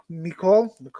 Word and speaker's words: Nicole: One thing that did a little bit scare me about Nicole, that's how you pronounce her name, Nicole.